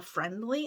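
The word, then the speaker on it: Frndly: it's called friendly but it's not spelled right it's f-r-n-d-l-y but you pronounce it friendly but they have Hallmark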